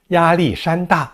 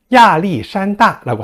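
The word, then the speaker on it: 亚历山大: 알렉산더 대왕을 야리산다라고 합니다. 근데 이 발음이 야리산다와 비슷하잖아요.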